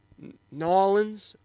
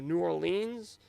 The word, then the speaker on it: New Orleans: out brees look good nollens or new orleans depending on how you say it a lot of good